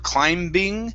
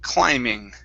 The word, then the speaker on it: climbing: is the word climbing the bee is silent instead of climbing it's climbing climbing good all right nice